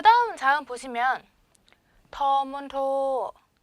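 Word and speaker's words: ฑ มณโฑ: 자, 그 다음 자음 보시면 터문토, 터문토, 터문토. 다 평성이죠.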